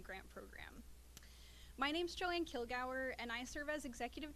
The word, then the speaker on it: Kilgour: So within that context, I have the great pleasure of introducing Joan Kilgour, who is Kilgour, excuse me. I have to remember it is the appropriate Scottish pronunciation. Joan Kilgour, who is the head of the Ohio River Valley Institute.